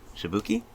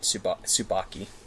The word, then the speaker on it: Tsubaki: of Jin and 3 cadets, Makoto, Noelle, and Shibuki. And Makoto, Noelle, and Tsubaki. Tsubaki, okay. Yeah, if you need, like, name pronunciations, I got you, man.